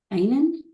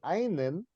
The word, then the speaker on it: ihnen: Ihnen? Ihnen. Ihnen. Yeah. Ihnen. Lowercase. Mm. So if you say einen and don't pronounce it ihnen, then I think you're saying this.